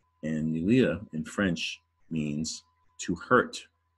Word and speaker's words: nuire: It's a French word, nuire. All right, nuire. It sounds like new weir, nuire. And in French, nuire has the UI vowel pair.